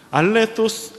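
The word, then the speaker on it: ἀληθῶς: 알레토스 아네스테, 알레토스라고 써져 있는데 요 헬라어 요 도는요 이 번데기 발음이에요. 영어로 th 이 이빨 사이에 혓바닥이 넣고 이렇게 뜨 하는 거.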